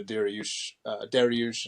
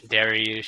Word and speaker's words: Dariush: You know, they're looking more forward to the Dariush and Oliveira fight, Oliveira.